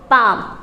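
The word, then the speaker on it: balm: Silent. अब next word आता है B, A, L, M, अब इसे क्या पढ़ोगे आप? बाम।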